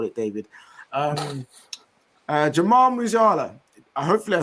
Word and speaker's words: Jamal Musiala: Jamal Musiala.